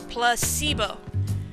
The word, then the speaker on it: placebo: today repeat after me Placebo the stress is on the middle suit the stress placeo